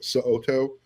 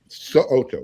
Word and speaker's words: So'oto: Huge fan of Coach So'oto. Make sure you pronounce that last name correctly, because he will correct you if you don't. So'oto, yes.